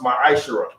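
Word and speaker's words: מעשר: Means tenth in Hebrew is pronounced ma'ashera.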